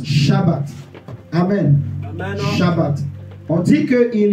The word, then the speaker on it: sabbat: au peuple de Dieu on écrit Saba en français mais on prononce shabbat amen on dit que